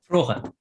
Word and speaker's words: Froge: Froge. Yeah, and the G is also, if the G is followed by a vowel, it's mostly spoken as a fricative.